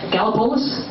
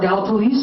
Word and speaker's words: Gallipolis: They are from Gallipolis, or Gallipolis, I've heard it pronounced both ways, down in southern Ohio.